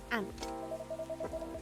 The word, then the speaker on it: aunt: Oh, so that's what they did to my aunt or however you want to pronounce it. Ant. Like an ant.